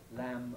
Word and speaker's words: lamb: Notice that words spelt MB, like thumb, lamb, and so on, we don't pronounce any B.